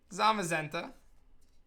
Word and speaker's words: Zamazenta: So, I mean, it's, you know, Zamazenta. Now we have Zacian and Zamazenta. Rhymes with magenta.